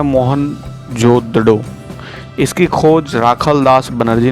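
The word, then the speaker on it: मोहनजोदड़ो: sucker जिले में स्थित मोहन जोदड़ो शब्द का सही उच्चारण है मोहन जोदड़ो इसकी खोज राखल दास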